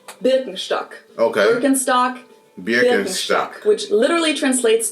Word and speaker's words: Birkenstock: the world nowadays, and it's natural that people pronounce it with their native accent. So English speakers usually say Birkenstock. In German, we say Birkenstock.